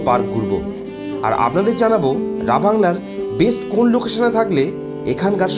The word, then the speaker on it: রাভাংলা: জায়গাটার নাম রাবাংলা বলে থাকি। তবে আসল উচ্চারণ রাবাংলা।